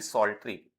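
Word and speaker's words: psaltery: उन्हें सभी साल्ट्री यह पी साइलेंट रहता है।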